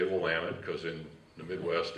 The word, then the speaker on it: Willamette: But the first thing you got to do is learn how to pronounce things." And he taught me how to say Willamette, because in the Midwest it's Willamette, because there's